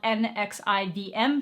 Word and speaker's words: NXIVM: It was called NXIVM, which was spelled N-X-I-V-M, but it's pronounced NXIVM.